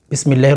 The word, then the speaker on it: বিসমিল্লাহ: করেন এখানে কিন্তু দেখেন অনেকেই পাঠ করতে বিসমিল্লাহ বলে বিষ না এটা সিন হ্যাঁ আপনি হচ্ছে সিন উচ্চারণ করেন বিসমিল্লাহ বলেন বিসমিল্লাহ হলে এটা হচ্ছে সম্পূর্ণ ভুল আছে হচ্ছে এখানে সিন আপনি যদি সিন উচ্চারণ করেন তখন কিন্তু কেমন জানি হয়ে যাচ্ছে তো সেজন্য বিষ বলবেন না বিস সিন উচ্চারণ করবেন